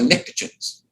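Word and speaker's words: pnictogens: name these are the nicotins and it starts with a P but the p is silent kind of like my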